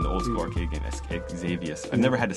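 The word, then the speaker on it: Xevious: So he's got How do you How do you pronounce this? I've always wondered like the this the number two Xavius, right? Xavius.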